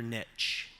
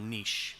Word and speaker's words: niche: Finding your niche, or niche, depending on your pronunciation preference.